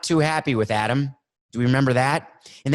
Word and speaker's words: Adam: We've talked about Adam Gase, the coach. I've mispronounced his name almost every time.